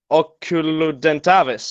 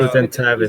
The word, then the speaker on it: Oculudentavis: Maybe it's Oculudentavis. easier in German. Yeah, I know. I usually I remembered this because Ukulu sounds a little like Cthulhu, and Dentavis.